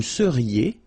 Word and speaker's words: seriez: Vous seriez. So here when you've got this Z at the end, then you get the sound E. Seriez.